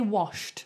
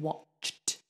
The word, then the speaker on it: watched: to be okay and make sure you don't say washed a lot of people mix up um they say washed instead of watched so I always say that this one sh is like the ocean but this one TCH is like a train don't mix those up okay then this word